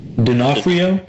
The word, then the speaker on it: D'Onofrio: So Jurassic World is obviously filming in New Orleans, and we now have confirmation that Vincent Assis, can you pronounce his surname? D'Onofrio?